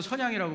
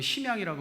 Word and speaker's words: 선양: 교회를 좀 소개하겠습니다 사진을 좀 보겠습니다 여러분 중국말로 선양이라고 발음하고 우리말로 심양이라고 하는 심양 기독교 동광교회라고 써 있죠 왜 제가이